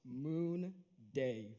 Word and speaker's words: Munde: to clarify something first it's pronounced moon day for everyone here hello my name is munde and i will